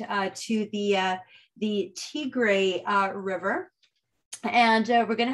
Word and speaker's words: Tigre: river delta um it the word kind of looks like tiger t-i-g-r-e uh the pronunciation teagray although interestingly enough uh